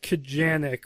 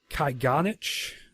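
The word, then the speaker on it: Kajganich: It's written by David Kajanik, which that's the Americanized... I read somewhere that's the Americanized pronunciation of his name. The original Serbian is Kajganic, I think.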